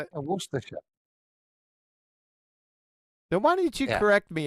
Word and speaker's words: Worcestershire: How to correctly pronounce Worcestershire.